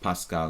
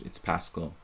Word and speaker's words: Paschall: My Hungarian name would be Pascal, but it's actually not pronounced Pascal. It's Paschall.